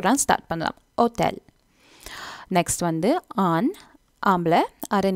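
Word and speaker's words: hôtel: ஹோட்டல் வந்து ஒட்டல்னு சொல்லணும், ஓட்டல். So again ஹோ அந்த ஏச் சொல்கிறதில்ல, அதை விட்டுட்டு நாங்கள் அந்த ஓ தான் ஸ்டார்ட் பண்ணலாம், ஓட்டல்.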